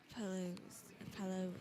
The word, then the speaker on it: Palou: And I think Palou, I don't even know how to say his name right now. Alex Palou, yeah, you got it right. Palou.